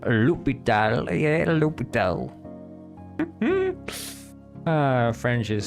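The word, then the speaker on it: L'Hôpital: This is a name of French origin. In French, it is said as lupal. Lupital.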